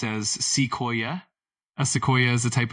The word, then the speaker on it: sequoia: Of course, it's pronounced as sequoia. Just break it down into three parts: sea, koi, and That's a great question.